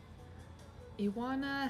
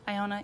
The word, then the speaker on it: Iona: thin layer of color iwana hello iwana is that how you say your name no listen iona you have let me say it wrong this whole time you